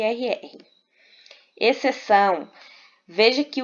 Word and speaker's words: exceção: Exceção. Veja que o XC, nesse caso aqui, ele funciona como dígrafo consonantal. Por quê? Porque o X, ele não é pronunciado.